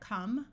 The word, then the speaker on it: come: Here we have come. Once again, the E doesn't do anything.